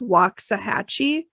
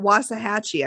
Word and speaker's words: Waxahachie: pronunciation of it because it's waxahachie but they say it was a hatchy i think oh they don't say